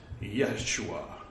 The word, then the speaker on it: Yeshua: know it's not Jesus it's not Jesus or Jesus it's Yeshua or however you would pronounce it with a Hebrew accent um it's the we're